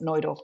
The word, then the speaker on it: Neudorf: We call it Nudolf, by the way, even though the Germans pronounce it Nolf, but that's it.